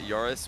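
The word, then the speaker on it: Joris: tou the flip reset Jack pronounces it yurus well yurus is his real name uh j o r i s that's his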